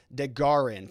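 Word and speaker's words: DeGuerin: says i can't believe dick deguerren is involved with this it would be like robert barnes letting one of his partners file something like that i just can't see it it's pronounced de garin thank you for that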